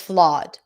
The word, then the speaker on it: flawed: it's flawed flawed flawed in some dialects in the US this would be ah flawed flawed Oz and father. Okay, it's not flawed even though it's spelled with O. Just think of it like as a very open O.